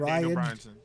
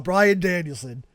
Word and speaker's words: Bryan Danielson: Bryan Danielson or Daniel Bryanson? No, Daniel Bryanson is crazy. No, Bryan Danielson.